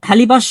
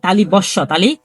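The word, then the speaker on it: তালব্য শ: বিন্দুর র তারপর এটা তালি বর্ষ হবে না এটা হবে তালি বস তালি তালি বস তালি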